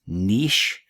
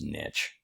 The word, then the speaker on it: niche: neat neat word there sometimes you'll see this word pronounced niche to me that sounds too much like a fancy breakfast item called quiche so I use niche okay I'm not a